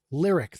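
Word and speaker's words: Lyriq: Lyric.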